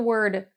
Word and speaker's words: we'll: We'll is what you will have been taught, but in rapid speech, myself and native speakers will say wo. We'll find something fun to do. So, more of a schwa sound.